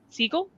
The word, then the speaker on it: Siegel: How many times has Mike Flanagan directed his wife, Kate Siegel? Is that how you pronounce it?